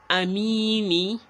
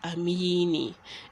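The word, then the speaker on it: أمين: course you know it we are not saying amini because we aren't continuing it assuming we are continuing to the next verse then we would put the kids right there but because we are stopping here we are substituting it with a spoon so Amin instead of amini and you wouldn't say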